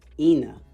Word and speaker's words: Eni: name is spelled e-n-i and her her mom pronounces it ena but when i looked up e-n-i i didn't